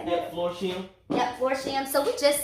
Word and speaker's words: Florsheim: Yep, Florsheim.